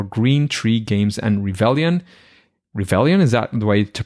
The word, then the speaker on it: Revelian: Revelian, is that the way to pronounce it?